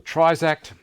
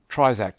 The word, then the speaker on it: Trizact: Trizact, T-R-I-Z-A-C-T, I think you pronounce it that way.